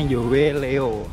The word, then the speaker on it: Yoeleo: Jadi bacanya Yoleo.